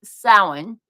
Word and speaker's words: Samhain: And in the Celtic tradition, like I said, it's called Samhain, which is spelled nothing like how I just pronounced it. I had to practice that one for a while.